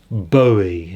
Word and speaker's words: Bowie: And then we've got an unfortunately not good condition David Bowie, not Bowie as I often pronounce, hunky dory.